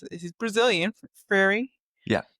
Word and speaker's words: Freire: And it's written by Paulo, I always mispronounce it. He's Brazilian, Freire. Yeah, Freire.